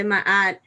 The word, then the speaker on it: Ma'at: Ma'at, yes.